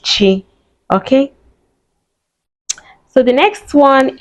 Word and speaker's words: Chi: So it's just chi the ch and is pronounced chi. So chi is on ch. So you see the on and the chuku is there which means God's gift and is my name. Yeah. So we do pronounce it chi.